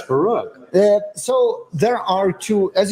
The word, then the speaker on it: Baruch: one do you prefer so barov is the name but I stopped very long ago trying to correct people to pronounce my name because in Hebrew it's Baroque so there are two